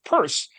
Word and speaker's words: Peirce: And um Namely, and this is uh uh a Charles Sanders Peirce, and yes, that's how it's pronounced.